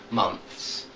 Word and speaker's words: months: clothes and months okay you've got to try to make a th and then a s sound but there's not there's only one syllable in both of these words clothes months okay um so thanks